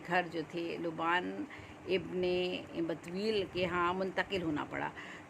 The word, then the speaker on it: بتویل: یہ ہے اس کا جو ہے وہ بے تے واو اور حمزہ یہ لام بتویل، اس کو تلفظ اس کا ہے.